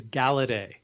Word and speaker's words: Galaudet: It is It is Galedet, but it has It's French.